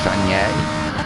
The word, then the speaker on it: Fagnes: When the Fagnes chicane, pronounced as Fagné, called Piff Paff by the locals.